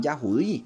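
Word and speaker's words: יהודי: donde vienen los judíos verdad que no son judíos son yahudi se dice yahudi Pero ellos por negar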